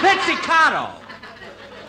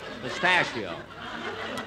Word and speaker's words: pizzicato: Hey, fellas, when we do the number on the show, play it a little bit more pistachio. That's pizzicato. Pistachio.